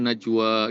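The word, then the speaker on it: نجوى: iya-nya itu bukan huruf ya, itu alif maksuroh. Tapi Jadi di bawahnya baca ada tanda alif juga, Bob. iya, jadi bacanya najwa gitu.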